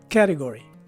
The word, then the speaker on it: category: in the third syllable the letter t takes a d sound as in delta while